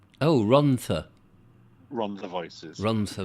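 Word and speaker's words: Rhondda: on the voices the the double d is pronounced as a th oh ronta run the voices run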